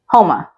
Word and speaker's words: Houma: So it's spelled like this, and it's pronounced Houma.